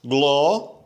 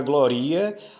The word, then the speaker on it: glória: Se você fizer a divisão gloria, você fez uma divisão errada, você, na verdade, está pronunciando a palavra de uma forma diferente. A palavra não é gloria, a palavra é glória. Glória. Então a gente diz o som do I e do A juntos.